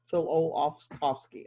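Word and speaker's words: Tsiolkovsky: starts with a t you would think you would say the t but the t is silent for the pronunciation so still all kofski till olaf kowski okay believe that a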